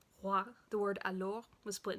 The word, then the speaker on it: roi: No real back of the throat. Roi.